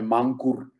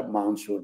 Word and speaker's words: Mancur: Olson Olson il cognome il primo nome mancur però si pronuncia mansur mi diceva lui ok